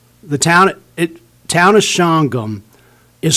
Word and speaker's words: Shawangunk: made the mistake of calling the town of shangham the town of chawangunk i got supervisor volks great guy he came